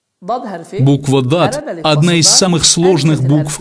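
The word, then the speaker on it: ض: что-то среднее между буквами некоторые произносят этот звук как з это неверное произношение если у вас не получается правильно произнести букву БАД то лучше произнести ее как букву Д буква Дат одна из самых сложных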